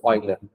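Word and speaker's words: Euler: It's oiler. Up to you doesn't matter. This how we spell it.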